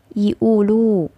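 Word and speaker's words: يقولوا: Nah, amiyahnya menjadi yiulu, dibacanya yiulu. Seperti itu.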